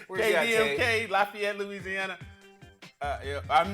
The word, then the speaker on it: Lafayette: Lafayette, Louisiana.